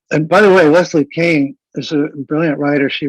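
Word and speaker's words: Kean: reliable book by a journalist named leslie kane that's spelled k-e-a-n and um if lily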